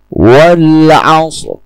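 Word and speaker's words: والعصر: Jadi pada ayat pertama ini, ro sukun dibaca dengan tafkhim. Wal asr. Wal asr. Tunjukkan sedikit getaran pada bunyi ro tanpa menekankan atau mengeraskan bunyi ro tersebut. Cukup dengan menunjukkan getaran wal asr.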